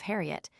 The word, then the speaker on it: Harriet: lips could frame it, so that Hoyat was formerly the universal pronunciation of Harriet and is still occasionally used.